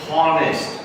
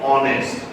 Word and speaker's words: honest: carefully, you're not saying honest. You know how H is not being pronounced. You're saying honest.